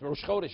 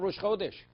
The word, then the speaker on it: Rosh Chodesh: it's not hug Amato's how could you say it Rosh Chodesh it's not rush whole dish it's understood you can't